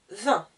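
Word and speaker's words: deux: bien 1 ensuite 2 je n'entends pas le x le x ému et trois appareils la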